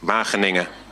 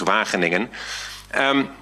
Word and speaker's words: Wageningen: You've all learned now how to pronounce that, right? Wageningen. Because that was one hidden task for this year. You all had to be able to pronounce Wageningen.